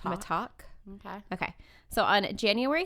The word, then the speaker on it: Mittack: It's spelled T-A-C-K like tack, but I think it's pronounced Mittack.